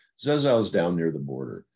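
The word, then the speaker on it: Rzeszów: It's actually pronounced Zezow. Zezow is down near the border.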